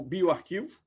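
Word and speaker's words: bioRxiv: Ele é pronunciado como Bioarquivo.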